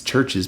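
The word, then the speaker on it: CHVRCHES: Um it's spelled it's churches but it's spelled with a V.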